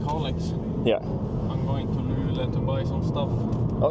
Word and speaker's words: Luleå: Luleå. Luleå? So, I'm from Canada. I don't know the language very well. Most people don't say the O in the end. We just say Luleå.